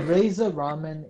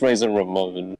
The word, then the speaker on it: Razor Ramon: Okay, Razor Ramen is definitely a wrestler. It's pronounced Razor Ramon.